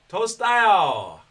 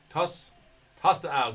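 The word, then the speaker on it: Tostão: All I can think of is Tostitos, but it's Tostao. Tostao.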